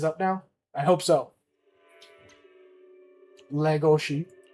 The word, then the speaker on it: Legoshi: Legoshi. Oh, let me do it the Japanese way. Legoshi. That's how they say it in the actual Japanese.